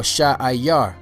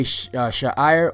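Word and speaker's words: שֵׂעִיר: name that you should know is Seir or Sha'ayar. Sha'ayar. You know, there's sometimes it's spelled Sha'ir, but in most places I saw it spelled Sha'ayar. Sha'ayar. You know, so whether you say Sha'ir or Sha'ayar, the word Sha'ayar means hair, because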